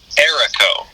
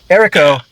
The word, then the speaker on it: Aeraco: to be speaking with um is it uh a a rarico is that how you pronounce the name of the band uh erico erico so i'm speaking with erica uh drummer uh